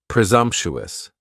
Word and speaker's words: presumptuous: next is presumptuous and presumptuous has four syllables and the stress is on that second syllable and the S almost sounds a little more like a z presumptuous presumptuous if somebody is